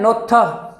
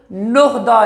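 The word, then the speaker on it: 놓다: नीचे है नोथा, अब इसको नोहदा नहीं पढ़ना, नोहदा नहीं पढ़ना, गलत होगा। जब हियत के आगे आएगा दिगत, हियत के आगे आ गया आपका दिगत, हियत क्या होगा साइलेंट, दिगत को बदलेगा वो थियत में, इसे कहेंगे नोथा, नोथा रखना या डालना।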